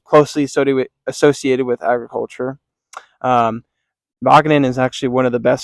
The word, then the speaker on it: Wageningen: So, within the Netherlands, there is this university called Wageningen University, or as I like to pronounce it to my American audience, Wageningen.